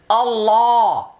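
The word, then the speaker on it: الله: জবর বাপে হইলে ওই আল্লাহ শব্দের লামকে এইযে দেখেন লাল কালার করা আছে লামটা উচ্চারণে যেমন আল আর লা তাহলে আল পাতলা লা পাতলা আল্লাহ হু পাতলা তহলে কোনটা মোটা হবে উচ্চারণ হবে আল্লাহ আল্লাহ আমি আরো কতগুলো উচ্চারণ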